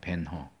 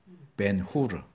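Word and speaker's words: Ben-Hur: 벤허, 벤후르, 후르의 아들이에요. 후르의 아들. 그건 히브리어죠. 벤, 후르. 영어식 발음을 하니까 그런 거고.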